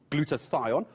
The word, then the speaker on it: glutathione: had to learn how to say it properly glutathione what is it and how do i know if i have a deficiency even before i have covert 19.